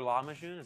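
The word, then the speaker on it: lahmajoun: I guess as a delicacy is it a lock machine is that how I say that exactly oh God a regular degular law machine yes that's how you say it there is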